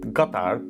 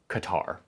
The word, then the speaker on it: Qatar: of our puzzle, Qatar, a country that should be pronounced Qatar, but I'm not gonna be that pretentious guy who shows up trying to like say it in the local pronunciation because it makes me sound cultured and cool. I am that guy, I'm trying to not be that guy. So for now, I'm just gonna say it like a Texas oilman says it, Qatar, okay?